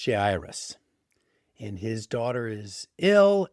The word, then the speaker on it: Jairus: His name, I believe it's pronounced Jairus, and his daughter is